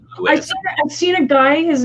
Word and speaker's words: Lewis: But that's like obvious that is not Louis. That is Lewis.